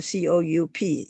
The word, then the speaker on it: coup: There was a coup, C-O-U-P. You would pronounce it as coup with no P and just coup, okay, which means 政变.